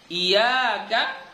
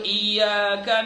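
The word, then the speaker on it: إِيَّاكَ: nanti eh di iyaka contohnya iyaka jadi kalau kita bacanya iyaka iyaka maka batal bacaannya ya kalau di bismillah tadi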